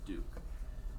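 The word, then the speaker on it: Diduch: For the record, my name is DeDuke. I'm the owner and principal attorney of Katie Law in Haddonfield, New Jersey. For the record, my last name is spelled D-I-D-U-C-H and pronounced DeDuke.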